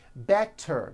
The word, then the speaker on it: better: Better becomes better.